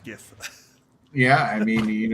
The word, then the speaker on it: GIF: but i also say gif i do not say jif even though it's supposed to be after jiffy simple i i refuse it's gif it's pronounced gif yeah i mean it's